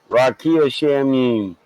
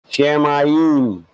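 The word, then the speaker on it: שמים: Rakia Shamim. Shamayim.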